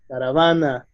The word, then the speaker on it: caravana: Okay, so if you notice, these words, also like tesis, caravana, cabo, they have the strength in the penultimate syllable, the second to last syllable, right?